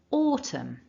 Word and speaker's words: autumn: that repeat after me autumn good so thinking about the sound in that first syllable it's the or sound which is a long vowel and this is one